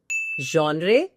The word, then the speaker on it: genre: Genre? Completely wrong. The pronunciation of the word is genre.